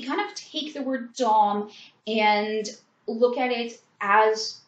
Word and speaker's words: Domme: So again, if we kind of take the word dom and look at it as it's intended, where it's modeled after the French language, it doesn't change the pronunciation of the word.